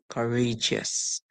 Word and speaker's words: courageous: a car H and then us courage us courageous courage Courageous Courageous so you may have heard